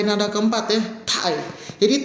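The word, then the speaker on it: 太: T ini dibaca TH, ta, ada tai, ya, tai, nah gitu ya. Biasain pengucapan Dina. Thailand juga. Tai, ya kayak di Thailand gitu, tai. Ya, orang Thailand nyebutnya tai, ada h-nya juga.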